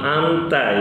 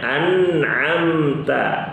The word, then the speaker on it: an'amta: Tapi Salwa tadi bacanya bukan amta ya, bacanya an'amta. Oke.